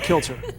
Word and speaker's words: Kilcher: I almost said kill her. It's like, how do you pronounce it? Koryanka Kilcher.